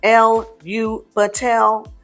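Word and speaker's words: Elubatel: So the name Elu Batel, which is pronounced L-U Batel, might be sung on a single note or 4 notes with 1 for each syllable.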